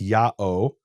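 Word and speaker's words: ΙΑΩ: Book of Leviticus where the name is written Yota Alpha Omega which is pronounced Yao and some people have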